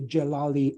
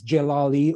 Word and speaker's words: Jalali: the period of the Jalali uprisings or rebellions. Jalali or Jalali, depending on how you pronounce it, refers to a group